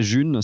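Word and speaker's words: Ğ1: Alors pour l'instant, il en existe une qui s'appelle la June, ça s'écrit G1.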